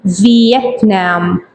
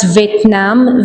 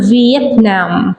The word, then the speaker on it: Vietnam: Did you notice the pronunciation of this word? V. Vietnam. Not Vietnam. Vietnam.